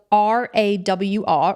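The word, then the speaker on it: RAWR: It's spelled R A WR, raw bars, and they are a small family business.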